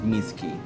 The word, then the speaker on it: Mizuki: VY2's name is Yuma, and VY1's name is Mizuki.